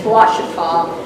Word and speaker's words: Washita: It's spelled like ouch with an A in it. It's Washita. And I've noticed some of the nurseries spell wash with a W.